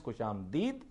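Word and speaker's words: خوش آمدید: तो ये बेसिकली नया उसके जो नया प्रोनाउंसिएशन है दैट इज खुशामदीद। लेकिन मतलब को वजह है कि मैं मुसर हूं कि मैंने खुशामदेद कहना सर, उसके सुनने में भी वो अच्छा हाँ, लगता है खुशामदेद।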